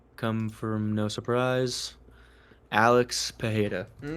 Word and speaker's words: Pereira: You know, Pereira, however you want to pronounce it. No, the Brazilian Pereira. Great dialect, but Anyways, uh wait, Pereira is the way you say it in Portuguese, right?